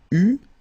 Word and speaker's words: eus: Okay, so j'eus, final S not pronounced, tu eus, final S not pronounced, il eut, final T not pronounced, elle eut.